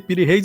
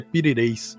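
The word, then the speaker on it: Piri Reis: Todo mundo pronuncia pireis, não está errado, não é na língua, mas a pronuncia turca é pireis.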